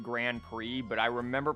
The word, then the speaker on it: Grand Prix: when they were younger thought that this was pronounced Pricks and not pre because that was definitely me yeah yeah I don't remember when I finally learned that that's pronounced Grand Prix but I remember pronouncing